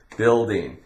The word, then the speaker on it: building: We have building.